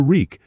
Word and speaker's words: Reek: Your reek, just it rhymes with freak.